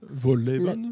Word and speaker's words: Wohlleben: Il y a un livre qui est sorti il y a quelques années de Peter Wohlleben, comment se prononce son nom ? Wohlleben.